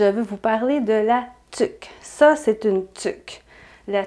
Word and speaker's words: tuque: Ça s'écrit tuque, une tuque, mais on prononce une tuque.